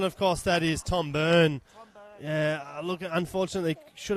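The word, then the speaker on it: Byrne: tom yeah of course that's uh tom burn b-y-r-n-e tom burn the listeners don't know how to know it's spelt differently t-o-m is the tom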